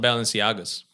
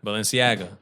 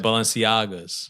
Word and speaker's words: Balenciaga: Balenciaga. Yeah, but what' you say? I said Balenciaga. Nah. I'm still saying it wrong. No, you said it right now. But before you I said Balenciagas.